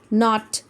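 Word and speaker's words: knot: आपने क्या करना है कि K को साइलेंट कर देना है, यानी K को नहीं पढ़ेंगे हम, will only pronounce as knife, कनाइफ नहीं कहेंगे, नाइफ चाकू, नी घुटना, नॉट गिट्ठा या गांठ, नॉक खटखटाना, ठीक है, K साइलेंट हो गया।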